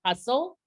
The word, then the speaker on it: hustle: It's going to be hustle, so we don't hear that sound.